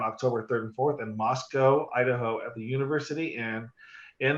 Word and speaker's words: Moscow: the city of Moscow, I said it wrong in June, so now I really have to make sure I say We're it. not in Russia. We're not Moscow. We're not that cow.